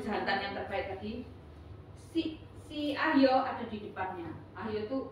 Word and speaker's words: Ahyo: Ahyo, A-H-Y-O, bacanya Ahyo.